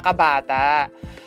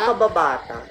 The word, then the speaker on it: Kabata: Hindi sila sure kung akda talaga ito ni Jose Rizal yung sa aking mga kabata. So, kabata ba o kababata? Kabata. Kabata lang.